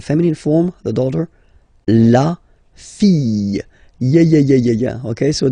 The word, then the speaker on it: fille: form, the daughter, la fille, yeah, okay, so this L here and E will give you the sound Y, la fille, okay?